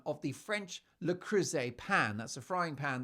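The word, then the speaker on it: Le Creuset: start to the day Megan then corrects Mindy's pronunciation of the French lrus pan that's a frying pan that she used to make the food Mindy called it l cruette which I thought was quite endearing but ever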